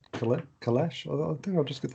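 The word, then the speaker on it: Kailash: said huh yeah um yeah it's called colette kalash i think i'll just get the spelling for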